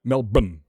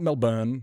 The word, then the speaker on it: Melbourne: Melbourne. Not Melbourne. Not Melbourne. Melbour just Melbour remove the vowels.